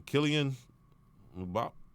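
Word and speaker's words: Kylian Mbappé: Kylian Mbappe? Am I saying that right? Okay, whatever. Nike LeBron 18. Yeah, you saying it right.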